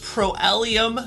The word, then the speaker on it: Proelium: ellis he is an entrepreneur the owner of pro-ellium fitness did i pronounce it correctly that's correct he's also